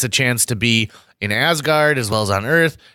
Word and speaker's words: Asgard: chance to be in Asgard as well as on earth and where as Odin pronounces it asked guard ask the one I